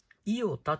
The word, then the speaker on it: イオタ: はいこれはねこれでイオタと読みますはい SVR はい 1/24